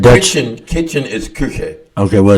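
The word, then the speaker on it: Kuchen: It's pronounced Kuche, not.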